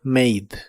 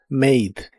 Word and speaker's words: made: Acostúmbrate a que la letra e en el final de las palabras de inglés casi siempre es muda, como en este caso. Este verbo se pronuncia made. made y lo usas para